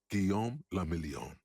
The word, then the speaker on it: Guillaume le Million: Guillaume le Million. If it doesn't rhyme, you're not pronouncing it right.